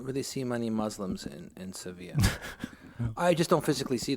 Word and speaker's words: Sevilla: But I can tell you something about Sevilla that's interesting, and that is that the two L's are pronounced like a Y in Spanish. No, that's not what I said. Sevilla. Seville is Seville, so it's Sevilla, and that was not